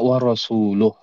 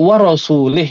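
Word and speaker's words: وَرَسُولُهُ: innallaha bariun minal musyrikina dibacanya warasuluh. Kalau warasulah masih mungkin, masih mungkin tapi Al-Qur'an tidak warasulah. Kalau warasulih itu kufur ya. Jadi kalau bacanya warasuli itu bisa kufur.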